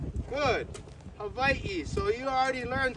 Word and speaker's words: Hawaii: What's the correct pronunciation of the Hawaiian islands? Hav. Good. Havi.